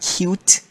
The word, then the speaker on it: Qt: Now Qt is it's pronounced cute, but normally it sounds weird pronouncing cute, so we normally say Qt.